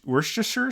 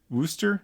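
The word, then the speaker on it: Worcester: think so too uh oh gosh wor Worster sauce is that is that right Wooster yeah I mean some people say it that way but I feel like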